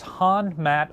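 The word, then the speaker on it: Hon Mat: battleship sinks an island the island in question is han matt island if you google it h-o-n-m-a-t is how it's usually spelled in english although sometimes it's spelled m-a-t-t uh it'll probably come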